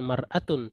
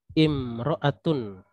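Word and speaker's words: امرأة: tidak pakai alif lam ya maka dia bacanya bukan bukan maratun tapi imroatun nyain imroatul Oke ini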